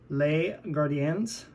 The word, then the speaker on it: Les Gardiens: And it's the Les Gardiens. Hope I pronounced that right. S is silent.